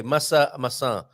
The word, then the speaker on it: maçã: If you say massa instead of maçã. Maçã, you should have a till on the last A.